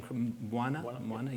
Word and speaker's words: Mbwana: So, in relation to your talk, am I pronouncing your name? Mbwana?